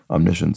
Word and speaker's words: omniscience: it could be omniscience so not pronounced science but omnicient sort of all awareness